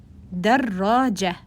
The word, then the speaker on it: دراجة: دراجة. دراجة. Notice there is shadda here. Dar and then raja. It's like these are two syllables. Dar, raja.